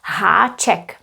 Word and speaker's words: háček: These letters have a little crown that's called haček. Haček means a hook. It means that that letter is pronounced a little bit differently than the previous one.